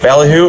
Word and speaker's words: Ballyhoo: Yeah, and I like how during our bottle review on this one here, we totally mispronounced it. Ballyhoo, it's actually ballyhoo. Bally. Bally. Like ball glassware, ball jar, Ballyhoo is yes a fish.